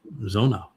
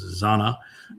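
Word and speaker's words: זונה: And then he goes on to say that she is Zona. Sometimes it's pronounced Zanna.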